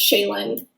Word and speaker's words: Shaelin: Shay um so yeah it it's just pronounced shayen kind of exactly like it looks I guess